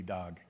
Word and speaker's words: Dag: both of them, and I don't have any problem with people calling me Dag or Dag, because that is how I have grown up. But the correct pronunciation would be Dag, and it's a shortened version.